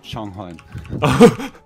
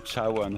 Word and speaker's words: Changhuan: I think we always said his name wrong, actually. Really? Yeah, because now that I can read Korean, and when I read it, it's Changhuan. So disrespectful. We call him Chawan or something.